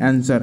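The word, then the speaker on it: answer: उसमें से एक क्वेश्चन है, which is silent letter in the word आंसर, है ना।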